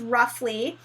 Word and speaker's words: roughly: short you F so it is another one of those words that has a spelling pattern that doesn't necessarily isn't necessarily pronounced the way that it looks so this is roughly and when you see the Oh ugh Oh ugh excuse me it often has that sound roughly so you know what